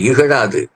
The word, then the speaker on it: இகழ்: வெற்றி பெற்ற அணியினரும் அவர்களை இகழாது, அதாவது இகழ் சிறப்புழகரம் இகழ் என்று அந்த உச்சரிப்பிலே வரணும், அப்படி இகழாது அவர்களை வாழ்த்த வேண்டும்.